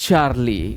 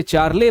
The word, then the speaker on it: Charley: आप इसे चार्ले बोलें या चार्ली बोलें, वो आपने देखना है, लेकिन स्पेलिंग में मिस्टेक नहीं करनी है। CHARLEY जो स्पेलिंग है, तो आप इसको चार्ली बोल सकते हैं।